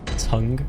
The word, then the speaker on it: tongue: Pronounce tongue as tong, and most pronounce it tongue.